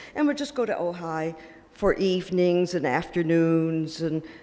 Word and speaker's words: Ojai: they settled in Ojai it's pronounced Ojai it's a bit outside